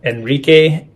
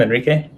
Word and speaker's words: Enrique: Oh yeah, I've heard Enrique. I've heard Enrique. Sometimes they misspell it when they hear it, but generally Enrique is the way that I go by. And then of course, if people speak Spanish, Enrique would be the way to say it.